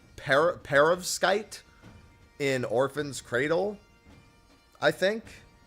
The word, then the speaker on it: perovskite: Perovskite. That's what it's called. Yeah, Perovskite. Yeah. Okay. It's definitely not Paradontite. Paradontite. I knew it wasn't that. I knew it was less syllables than that.